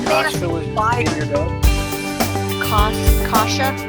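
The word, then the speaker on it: Kasa: Kasha. It's K-A-S-A, but we pronounce it Kasha.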